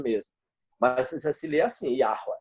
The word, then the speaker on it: Yahweh: Mas se lê assim, Yahweh, Yahweh. Na verdade, ela sai da garganta aqui, tá certo?